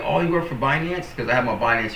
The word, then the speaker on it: Binance: binance to you like binance like he even pronounced it correctly I remember when I first got in crypto I pronounced binance wrong like bance um and I was